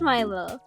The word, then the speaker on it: Millo: It is pronounced Milo. It should be spelled like Milo, but I put two L's on their certificate.